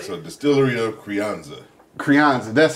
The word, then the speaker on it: Crianza: Crianza, that's how you say it.